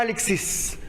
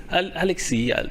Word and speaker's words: Alexis: producer, DUDLEY ALEXIS or Alexis? Alexis. Alexis. But there is an S at the end, no? Oui, mais. But you pronounce it in French.